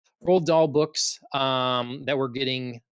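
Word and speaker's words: Roald Dahl: written um we have the Ronald Dahl I think that's how you say it uh rolled okay people say wrong like that doesn't look like I was felt rolled roll doll books um that we're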